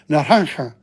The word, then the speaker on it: naranja: Naranja. It's the J is not pronounced. It's like pronounced like H.